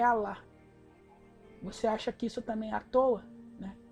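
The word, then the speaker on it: אלה: as leis de Deus, ela no original se pronuncia Alá.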